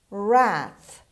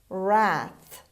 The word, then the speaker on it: wrath: mozma word number four wrath wrath wrath as you can see in this word w is not pronounced wrath means very great